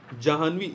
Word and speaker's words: जाह्नवी: जानवी जो है ये आपका गलत लिखा है, जाह्नवी, जानवी। तो इसमें आप देखिए, जा पे आ की मात्रा, हा में नीचे हलंत, न और वी, जानवी, इस प्रकार से लिखा जाएगा।